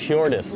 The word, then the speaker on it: Hjordis: What's Hjordis? Is that how you Hjordis. Pronounce it?